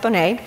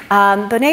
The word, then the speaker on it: Bonet: and Bonet and subtle and that is pronounced Bonet Bonet and subtle came up